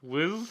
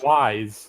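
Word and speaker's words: W'z: W''Z Wiz. Wise. Wise, thank you. It's pronounced wise in the show.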